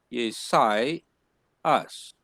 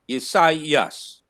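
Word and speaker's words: Ἠσαΐας: See, you can easily say it is yesai us, where the first one is sai and the second one is us.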